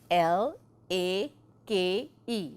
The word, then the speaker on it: lake: students right lick it's your magic e vowel long a sound l a k e the E is silent there has to be